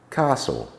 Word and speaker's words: castle: in Isle Island eyet T is silent in some words when it when uh is preceded by S Castle fashen listen russle I